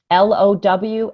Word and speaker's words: low: give just some examples the word um l-o-w and h-o-w in most languages around the world those two words would sound very similar right but in english of course they don't one is low and the other one isn't ho it's how right right right and there's no reason why anybody would expect those two words to sound different right but they do